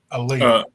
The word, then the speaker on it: Aliyah: How do you pronounce her name? Aliyah, yeah.